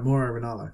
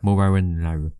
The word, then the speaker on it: Mauro Ranallo: So after that we had a backstage segment with Charlotte speaking with Mauro Ranallo. Mm-hmm. You are saying it right, Mauro Ranallo. Mauro Ranallo. Okay, good.